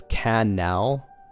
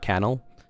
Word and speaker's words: canal: By the way, it's canal. Last syllable stressed. Canal. It's not canal.